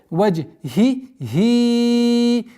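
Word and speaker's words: وَجْهِهِ: Четкое произношение первой кесры и второй кесры, потому что первая буква и вторая буква это звуки ха.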